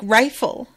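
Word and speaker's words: Reighfel: You know, pronounced like rifle.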